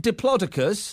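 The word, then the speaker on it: Diplodocus: They want us to complain that Dippy, the fake Diplodicus, cuz it turns out that's how you pronounce it, is being moved.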